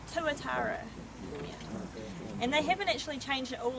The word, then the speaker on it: tuatara: How do you pronounce their name? Tuatara.